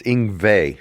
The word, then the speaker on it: Yngwie: It's Yngwie, like a V. Yngwie Malmsteen.